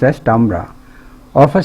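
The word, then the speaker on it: timbre: one the quality o Tamra is Sun is pronounced as tambra of a sound is a sensation in ear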